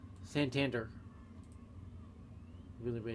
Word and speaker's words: Santander: Santander. Really the way it's pronounced here, so.